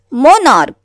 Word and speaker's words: monarch: So like this is the table, monarch. We cannot pronounce is this just as a monarch. इसको monarch नहीं पढ़ेंगे. What is this? Monarch, है ना. CH यहाँ पे the pronunciation of CH is K.